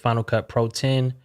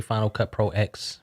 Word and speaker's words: Final Cut Pro X: Yes, a lot of people say Final Cut Pro X, but it is pronounced 10. It's the Roman numeral, so Final Cut Pro 10 for all the nerds out there that care about that stuff, including myself.